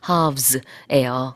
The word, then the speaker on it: halves: 이게 동사냐 명사냐에 따라서 그렇게 사용할 수 있고 발음할 때요. 좀 늘리셔야 돼요. 네. 미국 발음도 그렇고 영국 발음도 그래요. 물론 가운데 있는 모음의 발음은 좀 다르지만 이게 길게 발음한다는 건 똑같습니다.